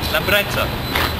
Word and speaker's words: Lambretta: Lambretta.